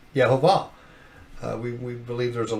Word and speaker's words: Yehovah: name of the the how you pronounce the tetragramma ham the yode hey vave is yehovah we we believe there's